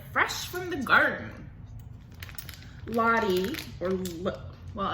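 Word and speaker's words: Lotte: Lottie, well, it's L-O-T-T-E. I would pronounce that Lottie.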